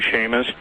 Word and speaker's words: Chamish: Yes, and interestingly enough, really interestingly enough, I don't know if you've ever read any of Barry Chamish, C-H-A-M-I-S-H, or some people pronounce his name Shamish, from Israel, but he's